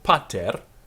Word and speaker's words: pater: So pater, firstly we have an accent, pa, and then a fall at the end of the word, ter.